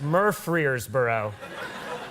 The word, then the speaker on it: Murfreesboro: how it's pronounced. That's a place. Murfreesboro.